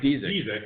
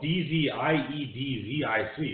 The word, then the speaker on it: Dziedzic: Mike Dziedzic. Yeah. His name is spelled D-Z-I-E-D-Z-I-C.